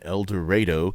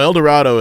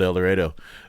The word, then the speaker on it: El Dorado: at Walnut River Brewing uh we are in elero Kansas and I promise you that's how we actually pronounce it there um I was gonna ask yeah no El Dorado is about 10 IQ points higher but uh